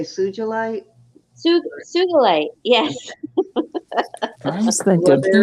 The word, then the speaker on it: sugilite: And then this, a shugite. Shugite. I always forget how you say it. It's an old vintage Are you native trying to say sujolite? sugilite.